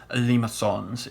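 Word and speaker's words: limaçon: french thingamabob i know they're really limassons if we're being precise i call them lima cues because if you write that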